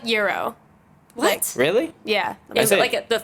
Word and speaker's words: gyro: it's it's Euro. What? Yeah, no, like the actual like Gyro?